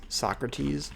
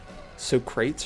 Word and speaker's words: Socrates: Like everyone, at least in English, right, says Socrates, but apparently it's like Socrates or something, or Socrates, something like that.